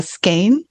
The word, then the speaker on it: skein: I thought it was skein. Skein. I don't know how to pronounce it. It's spelled Skene. So I don't know how to pronounce it because I've only seen it written on the stuff. So how do you think it's pronounced, Steve? It is Professor? pronounced skein. Skene is skein.